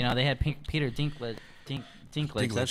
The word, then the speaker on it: Dinklage: Dinklage.